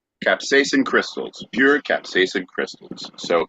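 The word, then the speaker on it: capsaicin: is pure how do you say it again capsacin capsacin crystals pure capsacin crystals so it is the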